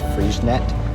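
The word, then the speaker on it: Freixenet: say it now it's freeze knit we actually do pronounce the t on the end so it was a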